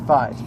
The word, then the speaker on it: Faiz: check out Kamen Rider Faiz. But anyway, which by the way, it's 555 and it's pronounced Faiz like the Greek letter, although apparently they use